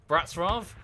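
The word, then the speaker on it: Wrocław: I walk down the the streets of Bratz RAF which is spelt Wroclaw which is incredibly confusing but it's fine could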